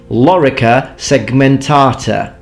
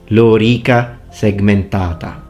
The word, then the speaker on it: lorica segmentata: an Anglophone accent, and you hear things such as lorica segmentata. It's lorica segmentata. Lorica segmentata.